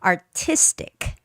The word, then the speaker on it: artistic: some huge words there artistic the stress goes on I artistic contribution the stress goes